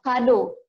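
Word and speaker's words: cadeau: Kalau huruf C-nya itu nanti ketemu huruf A, O sama U, dia akan berbunyi K. Ya, contoh kado.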